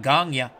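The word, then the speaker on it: Gagné: Bob Cole, hey Al, if I may, as someone from Quebec, Gagne is pronounced Gagne. Greg Gagne? I thought they always said Gagne.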